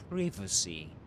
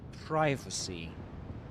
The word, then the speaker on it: privacy: So, this is um in the UK, privacy, privacy, but in the US, a privacy, privacy, you know?